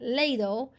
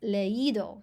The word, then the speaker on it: leído: Leer, to read, isn't leído, it's leído. So you put the accent on the I.